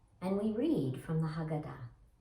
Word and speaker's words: haggadah: we read from the haggadah you can sometimes hear that pronounced haggadah it just depends on who's saying it i've heard it both ways we praise adonai our